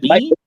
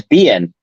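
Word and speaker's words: Biehn: Is it Bean? It's Bien. Bien.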